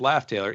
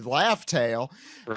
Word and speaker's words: Laugh Tale: and gold Roger exactly pronouncing this wrong it's supposed to be laugh tale never know I mean